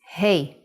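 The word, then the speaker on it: ה: so let's start B the fifth Hebrew letter is he he sound is ha but it can also sound like ah you will see how it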